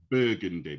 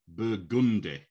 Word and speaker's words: Burgundy: the color it's burgundy if it's the street it's burgundy yeah because i've noticed some not all but some american names you put the emphasis on the second part rather than the first part here we we always have the emphasis on the first yeah and i have